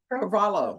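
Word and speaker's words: Carvalho: Carvalo. Yes, ma'am. Oh, okay. So the H is silent.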